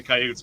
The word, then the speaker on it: coyote: Hey, I got it right from the coyote's mouth.